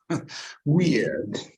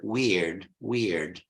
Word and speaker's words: weird: Weird. In American English, it's simpler, weird. In British English, it's weird. In American English, it's weird, with the erotic R, weird.